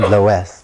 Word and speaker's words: loess: Which also goes by the name Loess for some historical reasons. Loess is usually spelled L-O-E-S-S, sometimes spelled like that too.